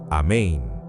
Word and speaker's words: amén: Es amén. Con el énfasis en la segunda sílaba. Y la N final debe resonar dentro de tu cavidad nasal.